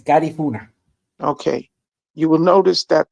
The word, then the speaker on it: Garifuna: Yeah, the right way of pronouncing is Garifuna.